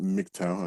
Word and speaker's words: MGTOW: that stands for mgtow and yes it is pronounced mgtow another some people say magtile or some weird